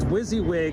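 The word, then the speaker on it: WYSIWYG: whizzy wig tv yep what you see is what you get is pronounced wizzywig tv okay time to get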